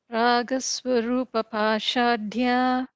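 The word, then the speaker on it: रागस्वरूपपाशाढ्या: Ragaswarupa Pashadhya. And here, like you pronounce it really well. So, Dha is the second Da, the Mahaprana.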